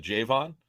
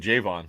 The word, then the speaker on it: Javon: way it's Javon Hargrave he pronounces it J Vaughn oh okay yeah the island noticed because I listened to an interview with him uh-huh and I throw mr. Vaughn he said Jay Vaughn so okay Vaughn all